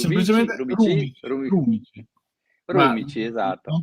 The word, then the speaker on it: Rumici: Intanto un ringraziamento a Tommaso, poi il cognome, bisogna ricordarsi come pronunciarlo. Ah, beh, guarda, Rubici, semplicemente Rumici, Rumici.